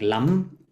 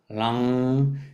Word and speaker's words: lam: We can place an, or like lam. Actually, the bija sound is la for earth, la, la. But we pronounce it with an ang. That's why I don't close the mouth. So lang.